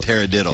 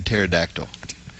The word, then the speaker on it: pterodactyl: gonna be terrible because the p is silent in a pterodactyl 502 5 5 that's